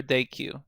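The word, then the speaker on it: dequeue: this figure we have two new terms here NQ or onq and then DQ or dayq depending how you pronounce it so we have the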